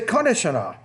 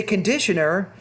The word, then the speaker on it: conditioner: you say where's the konasana now you're pronouncing all the words in there but you're not saying conditioner if you say conditioner you're very very highly intelligible see conditioner you're not